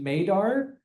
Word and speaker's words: MADAR: So as a co-author on the paper, I prefer the pronunciation MADAR like radar.